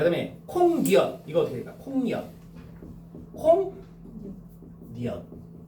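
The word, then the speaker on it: 콩엿: 자, 그 다음에 콩니엇.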